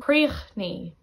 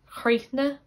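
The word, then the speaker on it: críochnaigh: Another example, then with AIGH, it's pronounced the same. Creachni, creachni. Connacht would tend to say it like chreithne, chreithne, and Munster would tend to say it like creithnig, creithnig.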